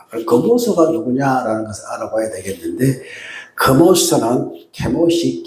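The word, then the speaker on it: Chemosh: 그모스가 누구냐라는 것을 알아봐야 되겠는데모스는 케모시 케미라고 원래 발음입니다.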